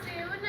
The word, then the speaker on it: Sune: I'm Sune. It's spelled S-U-N-E, and it's pronounced like the word soon.